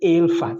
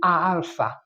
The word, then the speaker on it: alpha: So this is not ala this is alpha.